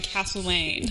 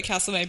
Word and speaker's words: Castlemaine: Why did you say castle? Because that's how it's said. Castle. It's not castle. Castle. I know because I grew up in Castlemaine.